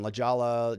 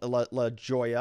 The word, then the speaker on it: La Jolla: jose and then also in la jolla i think is how you say that then over here in